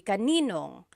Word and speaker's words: kaninong: And then just a pronunciation tip, kanino ang can be put together in a contraction. It would be kaninong.